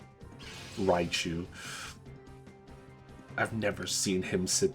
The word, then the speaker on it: Raichu: I was trying to call him Riku. Raichu.